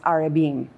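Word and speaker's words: ארבעים: in Hebrew it's pronounced arabin and here's what it means 40 is a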